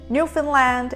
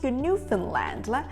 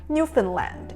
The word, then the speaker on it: Newfoundland: Newfoundland and Labrador Looking at the spelling, no one would've guessed it's pronounced "NEWFFIN-LAND" Many people make the common mistake of pronouncing it as "NEW-FOUND-LAND" Or some people say "NEW-FOUND-LIND", which is also incorrect The correct pronunciation is